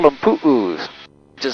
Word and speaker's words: pu'u: In Hawaii, we call them pu'us, which is spelled P-U'-U.